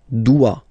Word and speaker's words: doit: Il, elle doit. Final T not pronounced.